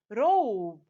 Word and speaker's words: robe: When I add the silent E at the end, what do I get? Robe. Oh, long O, robe.